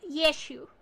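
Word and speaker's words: Yeshua: In the correct Bible, uh, the proper translation, it is actually pronounced Yeshu.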